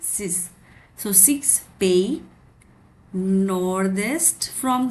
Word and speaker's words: six: Six is six only, but we pronounce it sis.